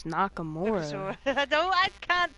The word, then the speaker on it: Nakamura: Nakasura the win. What did you just call him? It's Nakamura.